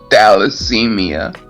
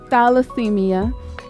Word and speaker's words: thalassemia: it up because I'll be calling it thermite dallasemia thalassemia thank you so much uh chronic acute chest